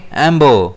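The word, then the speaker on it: ember: इसे हम प्रोनाउंस कैसे करेंगे? एबो स्ट्रेस इसमें रहेगा ईपर।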